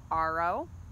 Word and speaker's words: Aro: My ninth name is Aro. Spelled like arrow, pronounced R-O.